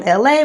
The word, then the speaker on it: LA: I'm LA once again, pronounced like LA like the city.